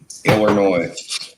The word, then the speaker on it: Illinois: Illinois. Illinois. Iller. Home of the retards. It's There you Illinois, not Illinois, but it's got an S on the end of it. The S is silent.